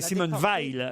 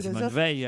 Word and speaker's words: Simone Veil: Simone Veil. Elle est pas morte. Non, mais je sais. C'est Simone Veil et non pas Simone Veil. Ah oui, enfin, j'ai mal prononcé.